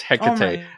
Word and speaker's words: Hecate: so that he can tell us how to pronounce it i seriously just did it's greek it's the goddess it's hecate there's this technology i already told you you